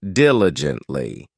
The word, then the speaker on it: diligently: time next we have diligently this adverb has four syllables and the stress is on the first syllable d i l i gently it means that you